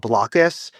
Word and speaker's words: Blokus: And one of our favorite board games is this game called Blockus. It's spelled Blokus.